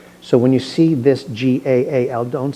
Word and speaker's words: Gaal: So, when you see this g a l, don't say gale, like we might say, it's whenever you see two vowels in a Hebrew word, you pronounce each vowel separately.